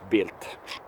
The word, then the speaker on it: Bild: a german news outlet built without the t on the end it's belt build but pronounced built because it is it's german and they can't spit out the tone the d in the end so built